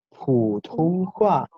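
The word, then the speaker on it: 普通话: Se dice Putonghua. ¿Pueden repetir? Excelente, chicos, los estoy escuchando muy bien. Putonghua, otra vez. Excelente, gente, muy bien, los felicito. Ahora, ¿qué significa Putonghua?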